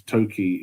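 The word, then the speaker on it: 토끼: The second pronunciation of toe, I was right because toki is the Korean word for rabbit, and that's how it is pronounced.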